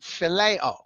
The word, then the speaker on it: phileo: and his spell ph IL io + + pronounced phileo the greeks defined this kind of love as